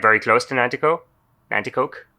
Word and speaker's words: Nanticoke: Nanticoke. Nanticoke.